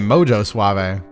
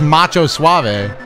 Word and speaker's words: Macho Suave: Why was I saying Mojo Suave? That's probably why we... Hold on, let me bet on him again, chat. I got his goddamn name wrong. That's Macho Suave.